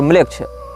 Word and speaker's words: मेलेच्छ: ANAMMLECH या इसी प्रकार की कोई स्पेलिंग आप टाइप करेंगे, अनाम ANAM और म्लेच्छ। इसमें म्लेच्छ जो है वो हमारा वाला म्लेच्छ नहीं है, मेलेच्छ, मेलेच्छ शब्द जैसा है, MELECH इस प्रकार से।